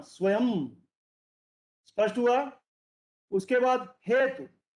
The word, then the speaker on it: स्वयं: तो हम शुद्ध शुद्ध की चर्चा कर रहे हैं, स्वयं। तो स्वयं को ध्यान पूर्वक देखिए, इसमें य के बाद अनुस्वार लग रहा है, जो आधे म का उच्चारण दे रहा है।